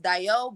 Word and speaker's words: Dayo: It's kind of pronounced Dayo, but I pronounce it Dayo. Us in America, we pronounce it Dayo. Like that's how we say it.